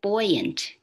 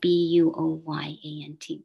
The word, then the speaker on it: buoyant: know but you know there's the word buoyant right b-u-o-y-a-n-t but when we say buoyant we don't say buoyant but anyway but you